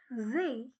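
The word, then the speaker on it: See: Lake को हम German में कहते हैं देयर जे। इसको आप से नहीं बोलोगे। एस को हम जेड की तरह प्रोनाउंस करते हैं।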